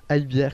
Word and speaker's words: AyBierre: le monde donc bah a bière comme ça se prononce avec de r voilà de r donc a y b b I e r r e donc a bien sur